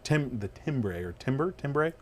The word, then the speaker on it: timbre: Now the problem with that, of course, is that the tone difference between that and the other timbre. It's spelled timbre. Pronounced timbre. Timbre.